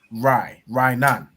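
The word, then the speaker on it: רענן: So you have a ra and you have an I. If you join that together, what does that make? Rainan. Rainan. Perfect. Right? So that's how you pronounce green. So green is Rainan. Right? You have a ra and an I joined to make rai, and a na joined to make nan.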